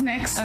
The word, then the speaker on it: NYX: Oh no, it's NYX.